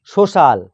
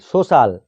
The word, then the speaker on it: social: তাহলে সি এর পরে আই এ বা ই এ থাকলে সি এর উচ্চারণ তালবস্যয়ের মতো হবে। যেমন সোশ্যাল, SOCIAL, সোশ্যাল মানে সামাজিক।